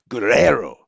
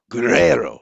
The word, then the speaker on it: Guerrero: this is out of i think i figured out how i've been screwing up uh the pronunciation of guerrero it's because like i've been trying to get that that first r into the group part it needs to be guerrero guerrero that's better right guerrero yeah